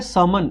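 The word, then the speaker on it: sermon: ये जो होता है समन इसमें आर जनरली साइलेंट रहता है तो ये बेसिकली क्या होता है जो धार्मिक उपदेश होते हैं ना वो बेसिकली शर्मन होते हैं।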